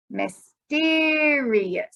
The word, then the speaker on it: mysterious: this part mystery but when we add the ous we will say it like this mysterious so we're going to instead of putting the stronger sound here we're going to change and put it here so this would be